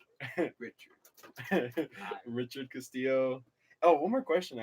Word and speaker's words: Castillo: Yeah, but I got used to saying Castillo because like that's how you're supposed to pronounce it.